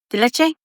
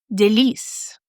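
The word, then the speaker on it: Délice: delicie? deluchu? No. I'm going to look it up. Please hold. It's delice. Which was nothing like I was pronouncing it.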